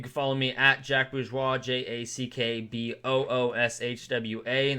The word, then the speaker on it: Bourgeois: You can follow me at Jack Bourgeois, JackBourgeois. That's how you pronounce it, not necessarily how you spell it, obviously.